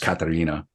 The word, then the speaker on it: Katharina: I'm going to call her Catherine. It probably would have been pronounced Katharina.